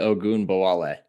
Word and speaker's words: Ogunbowale: Dare Ogunbowale. Let's listen to the call on KILT. Ogunbowale, the running back for the lead. Snap is down, the kick is up, and it's good! Dare Ogunbowale for 3, and the Texans are back in front!